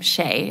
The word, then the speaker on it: Hsieh: just even Google it's hsieh is his last name Shea it looked it's pronounced differently than it appears um if you Google